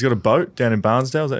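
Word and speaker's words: Bairnsdale: And uh he's got a boat down in Barnesdale. Is that how you say it? Benale Benale.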